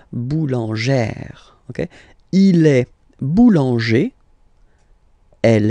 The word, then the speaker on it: boulangère: Okay, so boulanger, boulanger, and then feminine form, boulangère, boulangère. Same thing, don't insist too much on the final E. Boulangère.